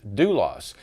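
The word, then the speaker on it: δοῦλος: the word so here the word would be pronounced dulos and you see that word dulos the definition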